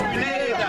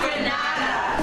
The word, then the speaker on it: Grenada: So, today, like we Germans say, we are in Grenada. But I heard in English it's called "Grenada". Say it right. Grenada. Say it right. Grenada. That's right. Grenada. There we go. Say it right. It's Grenada. It's not Granada.